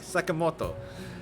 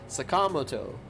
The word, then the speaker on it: Sakamoto: Not Sakamoto. It's Sakamoto. Even without the accent, you can just say it like that with a proper articulation. They're putting stresses in weird ways, man.